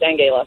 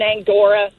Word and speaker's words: Angela: My mom's German, and in Germany, Angela is pronounced Angela. Okay. That says it all. Angela. Angela. Okay. Angela. Okay. Angela. Yep. I've been Angora, Angela.